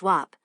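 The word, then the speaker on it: Weatherstonhope: Some time ago, when spending a delightful weekend at the ancestral castle of my dear old friend, the Duke of Weatherstenhope, pronounced Wop, I came across an old black letter MS.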